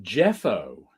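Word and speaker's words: Geoffo: the artist's name is jeffo g-e-o-f-f-o no idea who he is but he does a decent job I think that's still pronounced as Jeff there's an O at the end of it oh we're silenced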